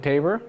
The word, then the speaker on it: Tabor: But it's Quintet Tabor, and it's from Tabor Court where we rehearse, and it's where I live.